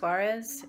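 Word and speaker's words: Soares: is awesome and sue I think it's pronounced Juarez s OU a re s and you can find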